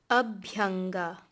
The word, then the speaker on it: abhyanga: Abhyanga, abhyanga, oil massage.